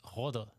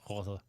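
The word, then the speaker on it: rotte: And in Danish is rode. Okay. Same, it's spelled rote, but it's pronounced something like rode.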